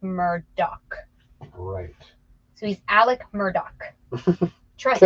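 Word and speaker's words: Murdaugh: his little mer Daw is how his last name is spelled but it's pronounced Murdock so he's Alec Murdock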